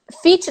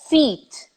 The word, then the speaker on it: feet: you're supposed to produce, it's not li. It's not fit da Anitta, ela tá fit. Fit, fit. It's feet, feet, feet. Feet, feet. So that long sound being produced by doubling the E, timing, more time making